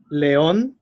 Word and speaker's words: león: The next one, number 3, is león, rubí. Those have the stress in the last syllable, and they have a